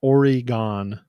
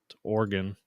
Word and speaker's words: Oregon: Bravo says orgon yeah it's not origon whoever whoever pronounced it origon you're wrong Oregon Jason this is why